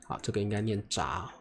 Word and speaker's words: 扎: should be pronounced as "扎". Well, the scorpion struggles desperately, this should be pronounced as struggle OK, OK, this is a polyphonetic word, please remember it.